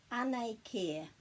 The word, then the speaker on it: Anei Kē: It's our book about the weather, ane care.